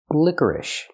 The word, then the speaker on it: licorice: the pronunciation lior licorice the first vowel is I like this is lick liquor then we have the UR sound like Burger liquor then we have ish use the I sound like this is plus